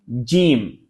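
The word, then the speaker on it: ج: তারপরে আসছি জিম।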